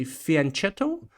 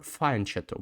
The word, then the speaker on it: fianchetto: Do you say fianchetto, or fianchetto? Because I think it's an Italian word, and in Italy, I think in Italian it's fianchetto. But in English, people say it differently, so I'm wondering how you say it.